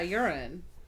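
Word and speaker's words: Uren: take my vigorous yeah urine Erin this person's name is U R E N I am from Tennessee I pronounce that urine but then that makes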